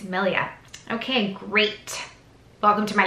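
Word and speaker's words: milia: time I was actually pronounced it I was pronouncing it Malaya and that's not it's Millia okay great welcome to my life but that's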